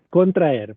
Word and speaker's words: contraer: Contraer, por ejemplo, en este caso pueden verlo escrito con H por influencia del latín, pero se pronuncia igual, contraer.